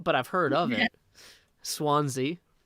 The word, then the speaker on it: Swansea: i've heard of it swansea like the swans like hit the jukebox